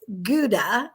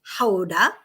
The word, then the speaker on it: Gouda: we were in houda which everyone pronounces as gouda and but really it's houda is that where the